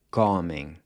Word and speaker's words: comem: and comem. É fruto que eles comem muito. So here, the pronunciation changes from a closed O to an open O, which is like the A in awesome.